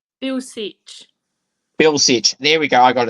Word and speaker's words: Bilcich: set the record straight ebony how do you pronounce your last name Bill Bill sit there we go I got it that time